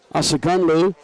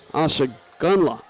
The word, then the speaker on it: Asagunla: Asagunlu will be in the huddle. Boy, big kid, as we mentioned. Mario Asagunla is the proper pronunciation.